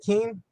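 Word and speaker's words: Kuenn: to mispronounce it but it's easy Harvey Keane yeah Harvey is it Keen yeah the you okay yeah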